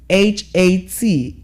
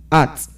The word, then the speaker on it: hat: H A T is pronounced as what? Hat. And not art. Because some people say art. that you're you're throwing the letter H away, but the letter H has to be pronounced in that word.